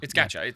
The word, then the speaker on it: gacha: Is gacha the right pronunciation? Gacha. Gacha. It's gacha.